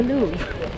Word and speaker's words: Louvre: First of all, it's pronounced the Louvre.